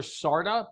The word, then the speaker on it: Carda: It's pronounced Dr. Sarda, but it's spelled Carda, C-A-R-D-A.